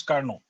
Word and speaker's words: Carnot: Carnot's आप लोग पढ़ते रहते हैं उसको, actual pronunciation is कार्नो। Actual pronunciation उसका जो होता है वो कार्नो होता है।